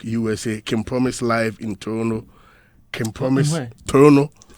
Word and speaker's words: Toronto: Kim promise live in Toronto Kim promise Toronto the right pronunciation toron promise live in Otawa Canada